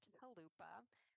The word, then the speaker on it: Chalupa: In Ukrainian, that's pronounced Chalupa.